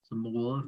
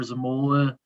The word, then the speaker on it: Zamula: Zamula, right? I believe that's how you say his name.